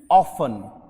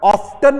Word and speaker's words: often: Word होता है OFTEN, ऑफन। कोशिश करें जब टी के बाद EN आ जाए ना तो उस टी को साइलेंट कर दो, इसका मतलब उसको बोलो ही मत। ऑफ्टन और ऑफन में से क्या बोलोगे?